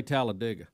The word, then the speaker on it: Talladega: calls it talladega yeah d.i.g halladega well the locals say talladega yeah greg you're you're this you're kind of i'm a talladega talladega i say talladega i may be wrong like big d.i.g yeah